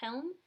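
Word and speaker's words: hjelm: it uh hell okay i think it's pronounced helm but it's spelled h-j-e-l-m all lower case these playlists on god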